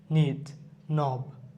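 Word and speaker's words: knob: আই FE knife night need K এন আইটি নিব নব কে এন ওবি নব next হচ্ছে নক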